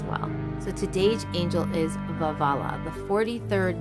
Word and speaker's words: Veualiah: The pronunciation of this angel is Veualiah. I like to say Veualiah because it's two vavs and a lamed, but that's what we're